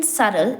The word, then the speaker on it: subtle: have to remember that the b in subtle is silent and it is pronounced